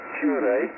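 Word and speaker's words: Turre: It's pronounced Cure, and I spell Tango, Uniform, Romeo, Romeo, Echo.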